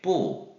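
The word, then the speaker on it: 不: 그 다음 자, 중국어로 부정을 나타낼 때는 뭐 안 하다, 뭐 아니다 의미의 뿌 이렇게 하시면 되겠어요. 화살표 따라가면서 발음하시면 되겠고요.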